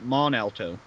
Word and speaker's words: Mont Alto: near where I live that actually has a silent T in the name it's belt Mont Alto but it's actually pronounced mon Alto that's really stupid yeah